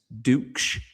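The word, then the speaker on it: Ducksch: It's Duk. But uh I've I've pronounced it all sorts of different ways and one way not so flattering.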